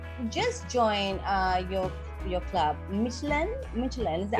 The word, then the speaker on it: Midtjylland: Midtjylland, is that how it's pronounced? Midtjylland.